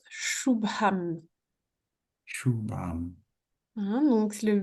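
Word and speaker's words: शुभम्: Alors c'est un che hein, c'est un S avec un accent dessus. C'est un chou.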